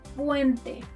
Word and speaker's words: puente: La letra P, letter P, as in puente, puente, bridge. To pronounce this letter like a native, put your hand in front of your mouth and try not to put air like you do in English.